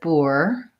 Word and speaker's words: poor: I wanted to see if poor has the same pronunciation as boot the same vowel and in this dictionary it's saying it's more of an oh wow like in could and should and that would be more like bore bore I believe that's